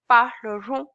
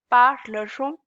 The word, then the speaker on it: parlerons: Now on is pronounced as on, so it's parleront, parleront, nous parlerons. Okay, ending s here would be silent.